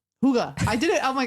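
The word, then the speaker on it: hygge: you can pronounce it Huga or Huga but you should be pursing your lips a little bit Huga Huga H I thought it was higgy so I was way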